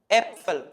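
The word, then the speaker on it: Äpfel: മുകളിൽ ഞാൻ ഉം ചേർത്തിട്ടുണ്ട് സോ അത് വായിക്കുന്നത് എപ്പൽ ആപ്പൽ എപ്പൽ സോ സ്ലൈറ്റ് ഡിഫറൻസ് എന്ന് പറയുന്നത് ഇത്രയേ ഉള്ളൂ സാധാ എ ആണെങ്കിൽ ആ എന്നുള്ള ശബ്ദം ആ ഉം വരുന്ന സമയത്ത് എ എന്നുള്ള ശബ്ദം സോ ആപ്പിൽ എപ്പിൾ ആപ്പിൾ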